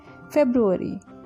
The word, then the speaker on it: February: The correct pronunciation of this word is February.